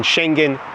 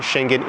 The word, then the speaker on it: Schengen: Shenhen, hence the name normally use the pronunciation shenhen in English. You would hear lots of other variations in that pronunciation. However, Shenhen is the most common that we use.